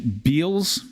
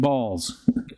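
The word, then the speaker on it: Baals: related a story that he once pronounced the mayor name uh I can't bite instead of balls um be Beals Beals mayor balls personally called him following the broadcast to correct his pronunciation saying son this is your mayor I pronounce my name balls Mike Hunt is definitely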